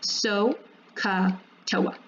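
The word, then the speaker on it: SOHCAHTOA: to remember this, and you'll hear people pronounce it as so-ka-toa.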